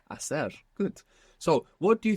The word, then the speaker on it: hacer: To do or to make, which begins with a silent H. Hacer. Hacer.